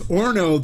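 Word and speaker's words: horno: It's Orno. The H is silent.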